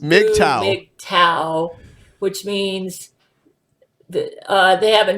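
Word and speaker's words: MGTOW: their core they said G M GTO W pronounced Midtown tau which means they have a new name it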